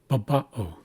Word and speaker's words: baba'o: So you can see here, since this vertical bar follows the A, that means we're placing emphasis on this second syllable. So the first syllable is ba. It's unstressed. The second syllable has the accent marker, so we know we place emphasis there. So we say ba, and then o.